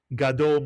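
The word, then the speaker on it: גדול: Ga is the first syllable. Dole is the second. Gadole means big or large or great.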